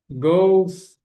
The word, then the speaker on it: goes: E a pronúncia desse verbo aqui, né, o verbo ir, é go, não pronuncia o e na pronúncia, ao invés de falar um é, vai ser som de u.